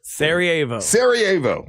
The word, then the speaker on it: Sarajevo: Sarajevo. Christmas Sarajevo. Let me write that down. Yeah, you did phonetically spell it.